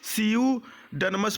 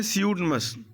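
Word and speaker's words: pseudonyms: ठीक है, यहाँ पर पी साइलेंट होता है। ठीक है, पी साइलेंट होता है, सियूडनमस पढ़ते हैं ना, सियूडनमस।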